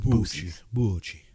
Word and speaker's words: Boosie's: I think it's Bucci's. Right? I think it's Bucci's. That was my sister's. It's not Italian. It's Texas. It's Boosie's. Bucci.